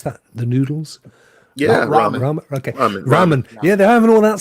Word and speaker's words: ramen: had a couple of they had some some Rama and and wines the night before is that where you pronounce it Rama what's that the noodles yeah okay Ramen yeah they're having all that stuff the night